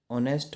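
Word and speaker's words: honest: Fourth है dash ऑनेस्ट मैन। अब इसे कैसे पढ़ते हैं? ऑनेस्ट, एच यहाँ पे साइलेंट होता है, तो आवाज़ किसकी आ रही है?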